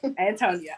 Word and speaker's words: AnTonia: So can you tell me the correct pronunciation? Tonia. Antonia.